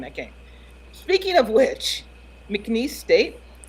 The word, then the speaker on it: McNeese State: Speaking of which, McNeese State, I'm pretty sure I'm not pronouncing that right. You are. That's right.